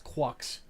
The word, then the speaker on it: Quux: So, and yeah, how is GQuuuuuux pronounced? It's just that's Quux.